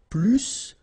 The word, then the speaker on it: plus: And so the last structure, if you want to compare with a verb, then in that case, remember, plus will be with the S. So pronounce it plus que.